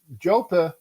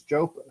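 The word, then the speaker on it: JoePa: that yeah because uh jopa and that's how to say his name correctly up in up in Pennsylvania is jopa jopa 409 Eddie romson 408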